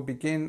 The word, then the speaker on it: begin: the two here so remember we have these two syllables but actually there's no no schah sound here there's no uh sound here so it's I begin on the simple form the meeting will begin at 10 a.m.